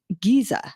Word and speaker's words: Giza: The Great Pyramid of Giza. Yeah, Giza. Entonces nosotros la Z en vez de Z lo pronunciamos como Giza.